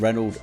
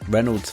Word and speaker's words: Renauld: I'm talking to the CEO and refound of Reynold sunglasses Gareth lellan Reynold can be found over at Reynold doc.